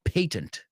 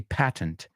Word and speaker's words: patent: Just be careful, the British say patent. We say patent.